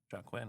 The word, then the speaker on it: Joaquin: Yes, it is an odd spelling, but typically that spelling is Joaquin Phoenix.